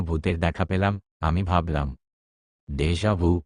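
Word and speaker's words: déjà vu: দেশজাভু উচ্চারণ দেশজাভু একটি ফরাসি শব্দ যার আক্ষরিক অর্থ হল আগেই দেখা দেশজাভু হলো এমন এক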